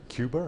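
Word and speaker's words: Quba: If you see around Kuba on the map, sometimes spelled with a C, but I spell it with a Q because people say Cuba in Azerbaijan.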